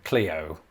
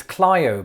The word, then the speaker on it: Clio: look at that and surely say cleo that just looks right it can't be clio but it is isn't it it's clyo because if it's not clio